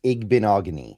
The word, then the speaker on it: Igbinoghene: Uh but it's going to be, you know, It's like mahogany. It's Igbinoghene. I've I've kind of learned how to pronounce it. Igbinoghene.